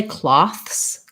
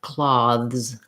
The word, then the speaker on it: cloths: That one way to make that plural, the voiceless th, is just to add an s. So I can say cloths, cloths, but oftentimes we change the pronunciation and we make a voiced th, which sounds more like cloths, cloths.